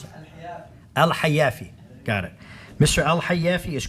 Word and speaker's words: Al-Hayafi: How do you pronounce it? Al-Hayafi.